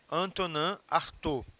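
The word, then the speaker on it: Artaud: ou Anton Art né se escreve Antoninho mas se lê né num francês relativamente agradável que não é o meu caso Anton artor certo Qual é a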